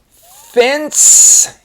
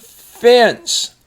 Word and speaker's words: fence: Fence. Careful here because the E makes the C have the S sound. Fence.